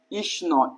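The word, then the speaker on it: ইষ্ণু: বসে আছে ইষ্ণ বলি এর উচ্চারণটা কিন্তু আমরা করি ইস এই ইস যে জিনিসটা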